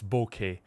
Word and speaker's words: bokeh: And well, technically the right right way to say that word is bokeh. Uh there's like technical papers uh to describe how do you actually pronounce the word. It's a Japanese word.